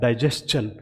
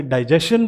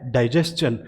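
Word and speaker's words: digestion: तो आप देखिए, ये जो पहला आपका वर्ड है इसे बोला जाएगा डाइजेशन। अगर आप इसे डाइजेशन बोलते हैं तो ये गलत है, इसे बोला जाता है डाइजेशन।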